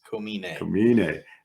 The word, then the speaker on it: Komine: the pitcher's name again komine everyone out there always misses pronoun mispronounces it it's coming that dude was serious on